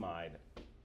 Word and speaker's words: amide: All right, so I call them amids. Sometimes you'll hear them pronounced with that long I am Amide.